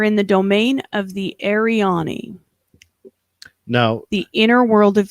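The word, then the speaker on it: Arianni: the domain of the ariani no the inner world of the earth so that sounds a lot like aryan yes but it's spelled uh a a-r-i-a-n-n-i yeah so that sounds a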